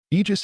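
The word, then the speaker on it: Aegis: Eegis is supposedly the name of Zeus's shield and the way you say it is. I just with a strong emphasis on the G.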